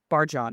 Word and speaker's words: Barjon: Uh, According to the back copy, Barjon, am I correct pronouncing that correctly? Yes, that is correct.